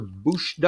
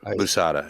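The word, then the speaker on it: Boosahda: And so you co-produced with a guy named Christopher Bushda, I think it is. Maybe Busada, mispronouncing his Busada. Christopher Busada. Yeah, yeah.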